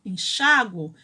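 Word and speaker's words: enxáguo: Se forem pronunciadas com A e U tônicos, essas formas devem ser acentuadas. Enxaguar, enxago. Perceberam que enxaguar não tem acento, mas enxago tem?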